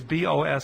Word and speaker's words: Boso: Instead, it's I guess it depends on how you pronounce this guy's name, but it could be Boso, but it really is Boso.